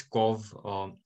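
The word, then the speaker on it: Cobh: There's a place, Cov. I think, am I saying it right? C-O-B-H. I think it's Cov. Cove, I've been there.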